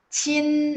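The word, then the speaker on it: qin: Kalau misalnya Q-I-N, itu bacanya gimana? Chin, ya biasa aja, I-nya bunyi I ya.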